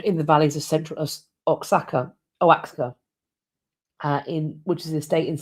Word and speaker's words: Oaxaca: Oh, it's pronounced sorry, it is pronounced Oaxaca.